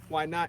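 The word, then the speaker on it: YNOTT: of the waianae foundation why not it's spelt y-n-o-t-t and it's acronym for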